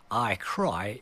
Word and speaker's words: Ikari: And there are various ways to pronounce this game, I've heard every way, and Ikari and Ikari, as in Ikari Dickory Dock, but apparently I Cry is the best way and the most authentic way to pronounce Ikari, and I will always call this Ikari Warriors.